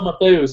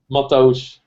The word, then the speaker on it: Mateusz: Mateusz. Mateusz. Actually, Mateusz Klazensky. Most of the time, people would say that name Mateus, but his name is pronounced differently.